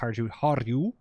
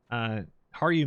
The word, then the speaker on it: Harju: Unfortunately, so I was looking into doing a Harju, it's not pronounced Harju, Harju map for Eye in the Sky, but apparently it crashes.